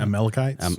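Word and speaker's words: Amalekites: The uh Amalites or Amalcch, I can't even pronounce it. Amalachites.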